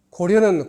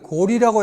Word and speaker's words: 高麗: 서너 가지 자료를 올린 데 비해서 고구려는 고구리라고 있고 고려는 고리라고 해야 되는 자료가 많이 나왔어요.